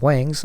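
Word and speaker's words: 王: dialect, and the Cantonese Wangs of the two surnames would not intermarry. However, the same two surnames in the Peking dialect are pronounced differently. One is Wang and the other is Huang, so that in the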